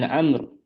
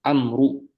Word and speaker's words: Amr: An Amr, Amr di sini antum perhatikan bacanya itu bukan Amru. Ana dikasih tahu sama apa dosen ilmu hadis. Amr di sini yang ada wawunya itu dibaca Amr sukun bisukuni waslan wa waqafan.